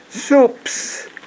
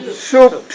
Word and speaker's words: soups: Soups. 단어 Soups. S자 빼지 말고 발음해 주세요. Soups. The S does not come from your vocal cord.